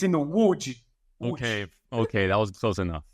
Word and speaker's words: Łódź: Okay, if you're an English-speaking person, it is pronounced with a Polish L, which is like a W. And you as well, Polish. Exactly. So if you read it, it reads as Lodz, like Lodz, basically.